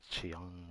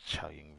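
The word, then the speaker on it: Qiaoying: to visit Chaoying Village, which I thought was Chiang Village, or I forgot how I said it, but Chaoying Village. I've been saying it wrong this whole time.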